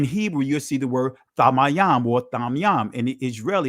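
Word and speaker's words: תמים: In Hebrew you'll see the word Tamayam or Tamyam. In the Israelite it's pronounced Tamim, which means perfect.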